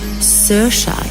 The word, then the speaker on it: Saoirse: The Irish name Saoirse is spelt Saorise. The S must be pronounced shh, like Siobhan.